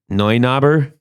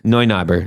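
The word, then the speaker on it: Neunaber: please correct me i i believe it's a noi knobber you could be right i don't know i've always wondered exactly what it was yeah it's how's it spelled it's spelled like n-e-u n-e-u yeah that's noi noi knobber yeah then noi knobber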